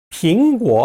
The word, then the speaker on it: 苹果: 빙고 하면은 사과예요.